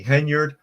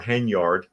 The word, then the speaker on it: Henyard: investigate the alleged crimes Tiffany henyard or henyard I've heard it pronounced both ways mayor of Dolton is